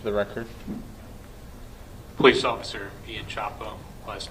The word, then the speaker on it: Csapo: officer Chapo if you would please uh introduce yourself to the jury and spell your last name for the record please officer Ian Chapo last name is spelled CS AO and officer Chapo how long